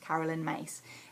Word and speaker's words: Caroline Myss: Now, Caroline Myss, it's written Caroline Myss, M-Y-S-S, but my teacher taught me recently it's pronounced Caroline Myss in her book, The Anatomy of Spirit.